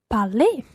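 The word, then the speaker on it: parlé: the past participle be parley exactly it sounds the same as the infinitively but it's spelled EQ to the end so to say I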